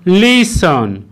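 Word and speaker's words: listen: Rule two, কোনো ওয়ার্ডের শেষে এস টি ই এন একসাথে থাকলে তখন কিন্তু ওই টি লেটারটির উচ্চারণ সাইলেন্ট হবে। যেমন ক্রিসন ক্রিসন, লিসন লিসন, ফাসন ফাসন, চেসন চেসন, হেসন হেসন ইত্যাদি।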